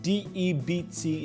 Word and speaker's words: debt: All right, I pronounced it debts because D-E-B-T is not pronounced debt. It is debt, D-E-B-T.